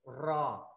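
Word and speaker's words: ر: Rồi chữ cuối cùng của hạng đầu tiên của dòng đầu tiên là chữ ro à, ro anh chị phải rung lưỡi lên,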